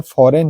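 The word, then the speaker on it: foreign: है यहां पर सब एन से पहले जी आया है जी साइलेंट रहता है आप पढ़े भी होंगे डिजाइन रिजाइन साइन जो हमेशा करते हैं कैंपेन है फॉरेन है वो जो है हमारा साइलेंट ही रहता है चलिए नेक्स्ट रूल देखते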